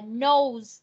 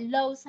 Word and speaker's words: nose: Từ này đọc là nose, không phải lose ha.